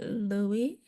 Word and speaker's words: Louis: Next, we have Louis. Am I pronouncing that right? Yeah, it's Louis.